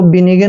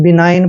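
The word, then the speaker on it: benign: को आई पढ़ते हैं ऐसे और जी का उच्चारण हमने नहीं करना है एन को न पढ़ना है बिनाइन आपने इसको बिनन नहीं पढ़ना है बिनाइन पढ़ना है दोस्तों बिनाइन मीन होता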